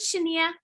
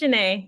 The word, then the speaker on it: Shanae: Shanae, am I saying it wrong? Is it Shania? It's Shanae. It's Shanae. You got it right.